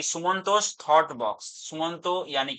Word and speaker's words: सुमंतो: तो स्पेलिंग भी देख लेना कि स्पेलिंग TA है, बट मेरा जो नाम है वो TO है। तो प्रोनाउंसिएशन जो है वो है TO।